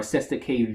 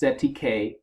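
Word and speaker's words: cestui que: trust, sestake use, or sestake vie. In contemporary English, the phrase is commonly pronounced setike or sestake. According to Roebuck, sestake use is pronounced sestike use.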